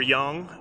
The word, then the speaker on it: yang: So this is the yang or yang as they kind of pronounce it in Chinese and the black is the yin.